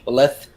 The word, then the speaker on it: lieutenant: Yeah, and why do the British say lieutenant? I don't know. That's a good question. There's no F in it. Maybe it used to be spelled with a TH, left, not left, but left. If you can hear the difference.